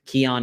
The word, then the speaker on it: Keonne: Keon is spelled Keonne.